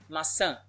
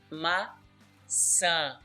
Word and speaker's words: maçã: As you can see, it has a mark, it has the tio. So we're going to pronounce with the nasal sound. Let's take a look. Maçã. Maçã. So that's the sound we need.